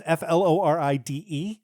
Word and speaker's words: Floride: his wife Florida okay that's FL o r i d e so I think I'm pronouncing it correctly anyway um as you might imagine than huh yeah sounds like floride to me sorry anyway worse than